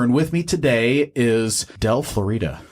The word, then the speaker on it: Del Florida: with me today is del Florida say hi guys or I said - I said Florida cuz I from Florida and their pronunciation it's del Florida yes no Florida got